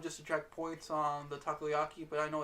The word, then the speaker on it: takoyaki: Okay, so for the appetizer, the takoyaki is how you pronounce it.